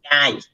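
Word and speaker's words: 会: Cái chữ hỏi á, nó là động từ, nó mới đọc là ai, nhưng mà khi mà nó đứng sau như thế này thì nó là danh từ, tức là danh từ mà nó đọc là kai, một cái hội gì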